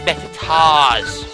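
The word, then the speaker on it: Mettaur: this game yes moo I'm saying met I'm saying me tools but the proper pronunciation is metat okay tomatoes and tomatoes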